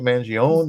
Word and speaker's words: Mangione: Mangione. Welcome. Thank you for having me on, man. Am I pronouncing that right? Mangione? Yeah, Mangione. Yep. Mangione.